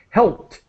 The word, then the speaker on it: helped: And just to help you with your pronunciation of helped, a T sound as quick as possible.